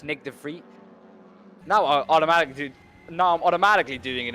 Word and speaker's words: Nick de Vries: You mean Nick de Vries? Yes. That's actually a really nice name to pronounce for you UK guys. Nick de Vries, is it?